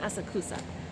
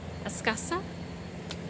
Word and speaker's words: Asakusa: Uh, I'm in the Asakusa area, or it's not Asakusa, Askasa.